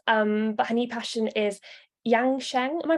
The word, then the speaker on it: Yang Sheng: And Corinne is a former nurse, but her new passion is Yang Sheng. Am I pronouncing that right?